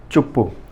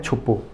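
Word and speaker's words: চুপ্পু: Answer होगा इसका शहाबुद्दीन चुप्पू, या कहें छुप्पू, कहीं छुप्पू उच्चारण होता है, कहीं चुप्पू उच्चारण होता है, अलग अलग न्यूज़पेपर में अलग अलग है।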